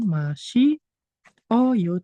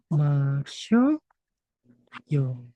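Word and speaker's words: 마셔요: Nah, dia dibacanya itu bukan masih oyo, teman-teman, tapi menjadi masyo yo.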